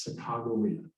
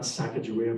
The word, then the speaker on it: Sacagawea: much of anything and so they said we want to get this right so they came up with a proper pronunciation that most people agreed on and that was chicago not sacagawea but you can call her whatever you like the captains